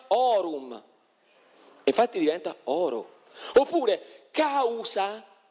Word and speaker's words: aurum: Non solo, ma quindi la parola aurum non si scriveva aurum, ma si diceva orum.